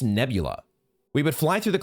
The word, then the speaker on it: nebula: clouds of the nebula how is that pronounced nebuli let's look this up real quick nebula oh it's just nebula we would fly through